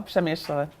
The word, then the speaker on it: Przemyśl: which I can't say, Przemyśl. You have to pronounce the L, Przemyśl. It kind of gets swallowed, janky.